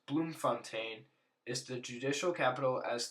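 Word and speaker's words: Bloemfontein: The third capital pronounced Bloomfontaine is the judicial capital as the seat of the Supreme Court of Appeal.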